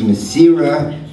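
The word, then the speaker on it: Mesirah: A little correction of pronunciation, the term is Mesira.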